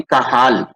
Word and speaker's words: Cajal: ये जो CAJL मैंने लिख रखा है, इसको काजल नहीं प्रोनाउंस करते, इसको प्रोनाउंस करते हैं काहाल।